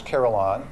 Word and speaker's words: carillon: It is so because people always are not sure how to pronounce but it's Carolon and then he is a Caroloner.